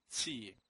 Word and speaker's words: Qi: Actually, it's pronounced Tsi, not Qi, as commonly pronounced.